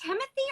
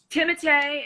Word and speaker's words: Timothée: Is it Timothy or Timothée? Well, Chalamet. We call. Please explain this to me. Somebody told me the other day I was saying it totally wrong, and his name is Timothée. Timothée is proper pronunciation, but Timmy is what we